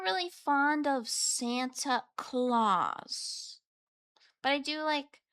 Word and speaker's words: Claus: But like I'm not really fond of Santa Claus. But I do like his last name, Claus, but not the way it's spelled. I just like it because it sounds like nails. Claws. Like cats.